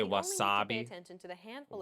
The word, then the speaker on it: wasabi: but don't forget that Japanese isn't a stress-timed language like English so instead of stressing the second syllable like make it even throughout try again I say